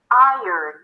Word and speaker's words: iron: vowel, it is not iron, but iron, as if I earned it. I, as in my, and then you have a little y sound, and earn, earth, and early.